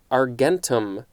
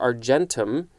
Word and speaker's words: argentum: silver ag is silver and the latin is argentum or argentum a-r-g-e-n-t-u-m that is i guess the latin word